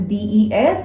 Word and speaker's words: des: And with these plural nouns, the partitive article used is they, that is des, it is pronounced as they.